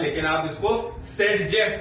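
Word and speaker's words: Zaitsev: तो मैं अब इस रिएक्शंस में, यानी कि डिहाइड्रोहैलोजिनेशन रिएक्शंस में आपको ज़डेव यानी कि ज़डेव रूल्स पढ़ाऊंगा। ज़डेव रूल्स जिसको प्रोनाउंसिएट करते हैं, क्या ज़डेव रूल्स या सेटजेफ रूल्स।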